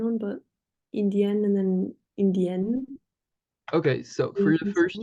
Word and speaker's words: indien: but Indian and then Indienne. Okay, so for the first Sound. one, we would pronounce the same way as australien. Okay, so we don't hear the N, it's indien.